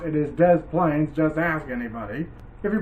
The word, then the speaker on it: Des Plaines: plaines river and by the way it is pronounced des plaines a lot of people say to plane or the deep or the plain river and that's not how it's pronounced it is des plaines just ask anybody if you pronounce it wrong